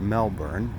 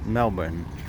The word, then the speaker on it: Melbourne: And I was corrected today by saying it's not Melbourne, it's Melbourne, something like that. You know, we Yanks, we tend to elongate the pronunciation of the word Melbourne, but it is a